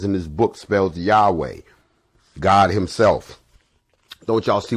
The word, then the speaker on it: Yahweh: spells w excuse me y a w h pronounced yahweh which is the hebrew